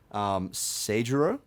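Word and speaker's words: Seijūrō: tangent about Den Shichiro, as per Stanley's official pronunciation. Den Shichiro and his brother, Seigero.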